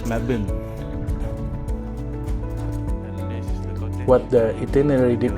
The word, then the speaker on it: Melbourne: And the way you pronounce Melbourne is not Melbourne. It's Melbin.